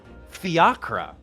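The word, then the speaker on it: fiacre: of Transport hold on that is pronounced fiakra at once I'll get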